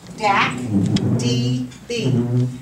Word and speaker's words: DACdb: up a little closer the title is dacdb and that's how you pronounce it Dak DB and it stands for